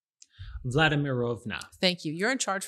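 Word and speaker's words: Vladimirovna: you how do you say this name vladimirova thank you you're in charge from now on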